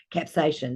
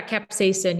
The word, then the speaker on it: capsaicin: one yeah and um capsaction that's how I pronounce the name I'm pronouncing it right the pepper yeah capsaicin yeah but going back